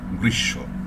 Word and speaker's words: গ্রীষ্ম: থাকলে দ্বিত্ব হয়, যেমন গ্রীষ্ম, এখানে শয়ে শয়ে গ্রীষ্ম উচ্চারণ কিন্তু হবে না, দ্বিত্ব উচ্চারণ হবে শয়ের, এই হচ্ছে বিষয়।